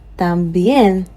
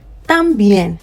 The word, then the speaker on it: también: Many students do not pronounce it well. Many students find themselves pronouncing it as también. Please look at where the accent is. The accent is on the E, and later I'm going to explain more about the accent. But please take note, this word is not también. No, the accent is on the E, so the tam goes down. También. También. Bien is going up.